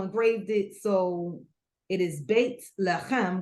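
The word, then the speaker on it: בית לחם: it so it is Baked Ham which is how you pronounce my name in Hebrew and it literally means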